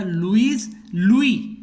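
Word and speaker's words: Louis: तो फ्रांस का king French revolution के समय था लुई. देखो एस लगा है लेकिन हम इसको लुईस नहीं बोलते हैं, लुई पढ़ा जाता है, साइलेंट है.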